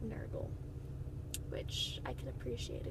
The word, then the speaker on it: Nergal: inspired by was Naugle the way they spell it is nur ji le it's a kind of like gurgle except Nergal which I can appreciate